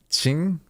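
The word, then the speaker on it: Qing: like you know um it's not like that was cheap like a like it's a it's a little bit different yeah it's like through the teeth yeah Ching super okay so that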